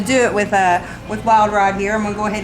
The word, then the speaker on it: Wylde Ryde: screamer and guitar slinger let me say this wild ride is spelled with wise and not eyes it's w-y-l-d-r-y-d-e check us out on